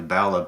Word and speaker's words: Ballagh: Um, so my last name is currently Balla, Ballah. But when my ancestors came over, it was Ballagh. So the Ah. Irish Balla, yeah. So the silent G there as well.